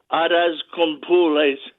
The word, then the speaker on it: arroz con pollo: Now, how do you pronounce it one more time? The rice and beans. How do you say it? Arroz con pules, the rice and beans.